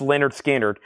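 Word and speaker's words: Lynyrd Skynyrd: and this is from the original Master tapes Leonard skinnard pronounced Leonard skinnard 64.99 now we have goo I'm assuming that's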